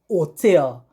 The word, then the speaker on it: hotel: do not know that the h is always silent in spanish you can take a